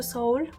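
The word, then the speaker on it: Seoul: was to go to Soul or se s s whatever you want to call it I discovered that the right pronunciation is soul uh because I started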